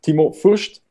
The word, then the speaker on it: Timo Fust: his name, and I'm going to try to pronounce it right. It's Timo Fust. Do I pronounce it right? Perfect. Perfect.